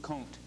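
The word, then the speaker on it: Comte: thought was this August kunt uh it's spelled c-o-m-t-e but it's pronounced C long o n t cone August kont and he believed you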